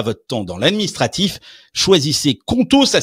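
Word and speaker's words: Qonto: Choisissez Contau, ça s'écrit Q O N T O pour vous lancer.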